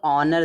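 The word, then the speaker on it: honour: देखिए यहां पे जो ऑनर दिया है इसको हम ऑनर पढ़ते हैं। ऑनर ऑनर में देखो एच का उच्चारण नहीं हो रहा तो यहां पर आर्टिकल क्या लगेगा?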